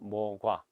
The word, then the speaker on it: 모과: 생겼다라고 얘기를 하죠 그래서 읽을 때는 목과 이지만은 우리가 발음할 때는 그냥 모과 감가는 그 오이 과도